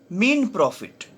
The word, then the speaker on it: mesne: In this lecture, we will try to understand the concept of mean profit in the Code of Civil Procedure 1908. So the S will be silent here while pronouncing this term mean profit.